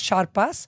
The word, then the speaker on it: Charpas: You said my name wrong from the beginning. Charpas, it's Charpas, but it's okay.